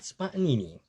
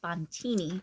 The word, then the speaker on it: Spontini: of a magic act Jamie announces him as the great spontaneen oh boy I'm pretty sure it's pronounced spontini spontini yes like how did